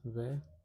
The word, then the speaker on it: vérité: It is pronounced as verite.